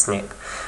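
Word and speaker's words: SNP: polymorphism or a snip it's pronounced snip okay and basically what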